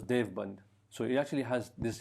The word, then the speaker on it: Deoband: used it so much it became deoband or as or pronounced as Dev band so it actually has